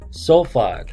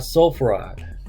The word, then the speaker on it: sulfide: Sulfur would be sulfide, not sulfuride.